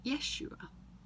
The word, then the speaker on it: Yeshua: The word for rescue in the Jewish language is Yeshua. It starts with a J, but it's pronounced a Y.